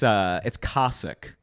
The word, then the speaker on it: Koscuik: It's Koscuik. And it's spelled Koscuik.